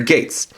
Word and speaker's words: Geiz: the translation for commoner gates now one thing I watch out for a little bit is the name as you see it spelled GE I Z but pronounced as gates and while it does